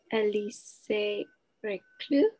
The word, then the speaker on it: Elisée Reclus: So we are reading together Anarchy, Geography, Modernity, selected writings of Elisée Reclus, that's how to pronounce it, with one of the editor translators, John Clark.